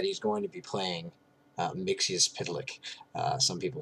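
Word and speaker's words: Mxyzptlk: My understanding is that it's Mixius Pitlick. I believe I got that from either Lois and Clark or Superman the Animated Series, and I appreciated the pronunciation so much that I decided to stick with it.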